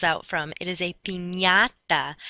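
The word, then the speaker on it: piñata: party is not a panada that's not what the candy falls out from it is a pinata that NY sound sort of like how we pronounce lasagna and why ok the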